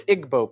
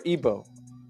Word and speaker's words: Igbo: Nigeria you have the Igbo people or Igbo pronounced either way there's 40 million of